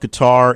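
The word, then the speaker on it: Qatar: so we talked about qar and the US uh qar qarqar however you want to pronounce it but cutter uh is the country that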